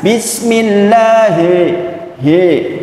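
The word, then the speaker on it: بسم الله الرحمن الرحيم: Hi ditarik sedikit jangan Bismillahirrahmanirrahim kan beda ya Bismi llah kemudian di situ ada Hiro itu namanya alif lam syamsiah Alif lamnya enggak dibaca langsung masuk ke huruf ro nah huruf ra jelas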